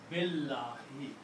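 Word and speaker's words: بِاللهِ: The meaning is that do not pronounce alif. Do not pronounce alif. Pronounce Billahi.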